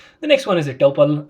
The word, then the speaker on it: tuple: next one is a topple uh Tuple I my apologies if I'm not pronouncing it right that's how I pronounce it but if it is pronounced as tupal feel free to do that so let's do the